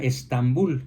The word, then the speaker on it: Estambul: el nombre a istambul Y actualmente se pronuncia Estambul en español y es la capital